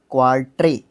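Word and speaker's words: quatre: word है French word है एक इसको मैं स्पेलिंग लिख देता हूं क्यू यू ए आर टी आर ई क्वा ट्रे ठीक है क्वाल्ट क्वाल्ट का मतलब होता है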